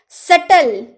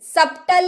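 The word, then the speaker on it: subtle: सटल, सप्टल नहीं, सटल, सटल यानी कि जटिल।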